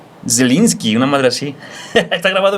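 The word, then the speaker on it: Zieliński: Los apellidos de, por ejemplo, eh, Yelinski, no es Yelinski, güey, es Zelinski.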